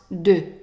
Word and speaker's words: de: So the E attached to only one letter or one sound is pronounced E. E. So it's pronounced de, de.